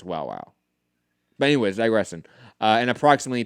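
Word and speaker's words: Wowow: I think you double pronounce the W, and it's Wow Wow.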